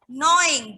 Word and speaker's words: gnaw: Another term is gnawing, Gnawing. G is silent. Is that clear? G is silent. It is gnawing the food like rabbit. Common example is rabbit. They gnaw their food.